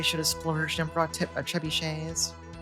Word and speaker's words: trebuchets: Such short-range ballista, they should have splurged and brought trebuchets. I really had to resist the urge to deliberately mispronounce it as trebuckets.